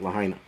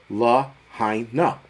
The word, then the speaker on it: Lahaina: Someone said, I'm dying each time you say it, Lahaina. It's Lahaina.